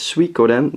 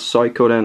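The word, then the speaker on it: Suikoden: studying friend of mine how to pronounce that and it's Soden not sooden or soyan or whatever it's s Coden personally I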